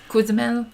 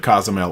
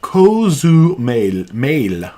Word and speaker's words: Cozumel: Cozumel. We have to get those Spanish vowels. I want to make sure I'm pronouncing it properly. I've said Cozumel all my life like an idiot. So Cozumel.